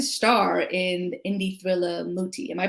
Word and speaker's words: Muti: So you're set to star in the indie thriller Muti. Am I pronouncing it correctly? Is it Muti? Oh, Muti, yes.